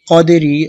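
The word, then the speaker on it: قدر: রজের রি, কদেরি, অকফের সময় র সাকিন করতে হবে। কদ্র হবে, শব্দটা হবে কদ্র, প্রথম দালে কলকলা হবে, পরে রটা আসতে উঠবে, কদ্র।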